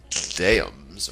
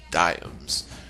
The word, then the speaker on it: diams: it was worth two diams pronounced dams or diams per pound a simple